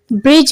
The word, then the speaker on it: bridge: Bridge में D silent.